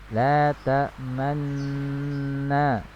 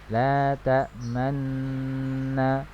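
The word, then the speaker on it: لا تأمنا: Jadi memonyongkan seperti kita mengucapkan dhammah tetapi tidak ada suara dhammahnya, ya, tidak ada suara dhammahnya, hanya isyarat bibir saja.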